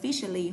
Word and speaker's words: officially: Tiếp tục chính thức mình sử dụng phó từ là officially hoặc tính từ official. Nhớ trọng từ hai nha. Không đọc là officer đâu ạ. Officer thì là danh từ khác cơ.